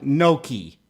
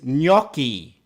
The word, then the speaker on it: gnocchi: potatoes while the spelling seems strange the correct pronunciation is not no ki I've heard professional chefs pronounce it no key it's not pronounced no key the pronunciation is no key you can buy prepared gnocchi this brand claims